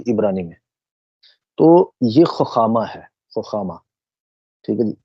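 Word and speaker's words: חכמה: بڑھتے ہیں، نمبر 2 خخامہ۔ کچھ لوگ اس کا جو تلفظ کرتے ہیں وہ حکامہ کرتے ہیں، لیکن اگر اصولاً اس کو دیکھا جائے تو وہ خخامہ ہے۔ کچھ اور بھی آپ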